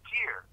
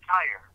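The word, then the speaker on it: Tyre: I read this that tier which is mispronounced as tire on the shores of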